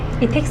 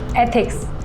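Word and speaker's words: ethics: इथिक्स नहीं, एथिक्स ऐसे pronounce करो। एक बार बोल के बताओ।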